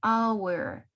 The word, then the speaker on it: hour: En este caso tenemos an hour. Si vamos directamente o pronunciamos directamente la O, an hour.